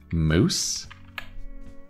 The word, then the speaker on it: mousse: chocolate and we're thinking it should rhyme with loose right so maybe this is chocolate mousse excellent and again the sound is spelled in a different way it's ousse very interesting Goldilocks complained